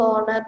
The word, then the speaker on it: honor: Pongala is a festival performed to honor the sea. Honor. H is silent.